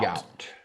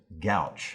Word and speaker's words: gout: Gout. You might hear somebody pronounce it gouch.